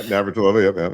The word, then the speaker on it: Navratilova: But it was, in that tournament was Martina Navratilova. How do you pronounce her last name? Yeah, Navratilova.